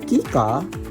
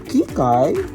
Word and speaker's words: Kika: It's Kika, not Kikai.